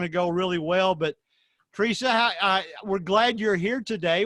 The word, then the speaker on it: Theresa: It is Therese. Teresa. Okay, so the H is silent, basically.